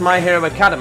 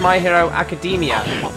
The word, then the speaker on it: My Hero Academia: on my hero academia at first i thought it was um pronounced my hero academy apparently it's not it's my hero academia so much for just